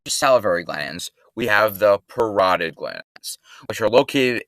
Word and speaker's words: parotid: you happen to notice parotid rhymes with carotid the carotid artery is